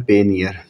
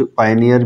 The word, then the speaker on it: Payoneer: यहाँ पे लिखना है पेनियर। ठीक है व्यूअर्स, PAYONER, पेनियर। कुछ पायनियर भी कहते हैं, कुछ पेनियर कहते हैं, और जो भी आप आसानी से प्रोनाउंस कर सकते हैं आप वो बोल सकते हैं, लेकिन इसके स्पेलिंग है PAYNER।